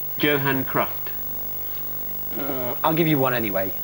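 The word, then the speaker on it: Johan Cruyff: merer in the 1974 World Cup used to pronounce Yan C's name Johan crof I'll give you one anyway it was thank you it was Joan cruff he okay that means in fact the score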